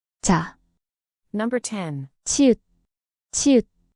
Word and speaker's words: 자: And ch sound like in jam, but softer and unaspirated. Represents the teeth with the tongue slightly raised. Example with the vowel a, this forms ch, pronounced ja. 자, 자.